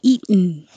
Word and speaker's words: eaten: would be perfect but we don't have to say the tea it can be a syllabic in and say eaten so eat put your